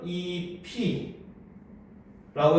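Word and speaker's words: 잎이: 자, 그런데 얘를 발음으로 해보면 이 피라고 해서 피읍이 그대로 올라가서 발음이 납니다, 그렇죠?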